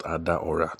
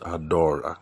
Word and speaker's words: Adaora: Oh yeah, my wife says it's not Adaora, that it's spelled Adaora, but it's pronounced Adora or something like that.